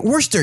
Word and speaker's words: Worcester: I was like Anthony you say it werster you say yeah so but it's spelled worse sister yeah and there's another